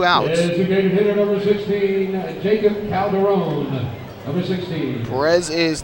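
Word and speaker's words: Yeicok: Well, he says that his name is pronounced Jacob Calderon, but it is spelled Y-E-I-C-O-K. Y-E-I-C-O-K, but he says it is pronounced Jacob.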